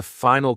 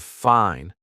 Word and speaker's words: fine: Many learners drop the final consonant of words. They say goo instead of good, fin instead of fine, imprint instead of important.